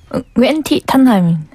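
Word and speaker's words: Nguyễn Thị Thanh Hà: 네, 웬티 탄하. 아. 그냥 탄하라고 불러주시면 돼요. 야, 앞에 응이 발음이 잘 안 되네요. 네, 좀 어려워요. 무금처럼 표현이 되는 것 같네. 네, 그게 좀 베트남식의 성조도 있고.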